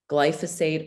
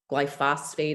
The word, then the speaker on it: glyphosate: 70% of those crops are sprayed with a weed killer called glyphosate or glyphosate. I've heard it pronounced both ways, but that is destroying the good bacteria in our bodies.